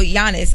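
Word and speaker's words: Giannis: to her I don't even know how you pronounce the guy name what is it Yan Yannis jannis yeah so Yannis um so there's a there's like a I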